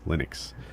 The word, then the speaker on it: Linux: a trillion times and it says my name is or this is Linux and I pronounced Linux Linux and uh and it's